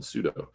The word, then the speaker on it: sudo: just typing their own password when they run sudo if you're not familiar with sudo it's spelled s-u-d-o and it's a particular technique that's